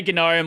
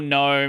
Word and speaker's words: GNOME: out of us like Silent G or not. You developers will say both. People say Gnome or Gnome. It no one cares anymore. It used to be Gnome because of GNU and ever since the